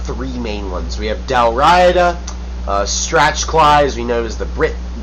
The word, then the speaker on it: Dalriada: However, when Kenneth McAlpin of Dalriada conquered the Picts, this started a unification process with...